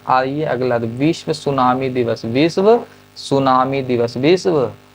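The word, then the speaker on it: tsunami: होता है पता है सुनामी का स्पेलिंग टी से स्टार्ट होता है किस से स्टार्ट होता है टी से बाकी सुनामी जैसे लिखाता लिख दि टी साइलेंट रहता है ठीक है ना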